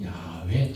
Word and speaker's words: 야훼: 후대에 모음을 붙여서 야훼 또는 여호와로 발음하게 되었고 엄격한 유대인들은 이 이름을